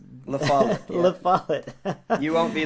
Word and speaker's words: LaFollette: LaFollette, right? LaFollette.